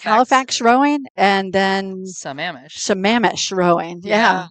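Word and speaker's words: Sammamish: Samamesh Rowing. Yeah, I was actually on the airplane with Seamish and they said everybody mispronounces it. Samamesh.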